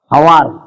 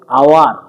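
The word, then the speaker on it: hour: নয়া দো হাওয়ার দো বাং কানা, নয়া দো হইয়া আওয়ার। চেন হইয়া আওয়ার। একদম ক্লিয়ার। এইটাকে আমরা উচ্চারণ করছি না, বুঝেছো? এটাকে উচ্চারণ করছি না, আমরা উচ্চারণ করছি এইটা আওয়ার, নোটে হাওয়ার।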